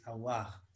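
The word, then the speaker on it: Aouar: They yeah, sent a link for how to pronounce his name. So apparently it's Awar.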